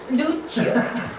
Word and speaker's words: Duccio: Duccio. Duccio. Duccio. You gotta spell it right too.